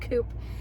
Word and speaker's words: coupe: not the coupe version or coupe if you prefer that pronunciation i do not prefer that pronunciation i like the word coop and this is a